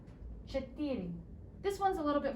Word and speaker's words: четыре: Четыре.